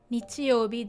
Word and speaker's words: 日曜日: As long as you can identify it and know that it means Sunday, and if you can pronounce it as nichiyobi, don't worry about the middle kanji again.